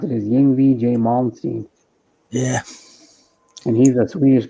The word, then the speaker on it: Yngwie Malmsteen: How you pronounce it is Yngwie J. Malmsteen.